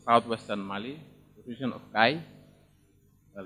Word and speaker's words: Kayes: And they are originating from the southwestern Mali, the region of Kai. Well, they write it Kayes, but it's pronounced Kai.